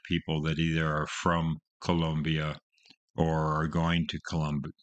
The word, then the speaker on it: Colombia: going to Columbus Columbia I always will say Colombia which is American saying it the wrong way Columbia but after listening to this album I just want to go Colombia because that's how they say it on the album I love it it's